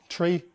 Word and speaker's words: trie: him who said that it's pronounced tree because it comes from the word retrieval however other authors pronounce it try in an attempt to